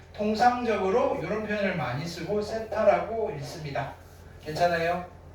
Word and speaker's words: 세타: 번데기, 발음기호 번데기처럼 생겼는데 요거를 뭐라고 이렇게 쓰시고 뭐라고 읽으시면 되느냐면은 세타라고 읽으시면 돼요. 세타. 그리스 알파벳이에요. 그리스 알파벳. 세타.